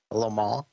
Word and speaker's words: Le Mans: And if you ever go there, you've got to say it like that. Just drift off the very end of it, Le Mans.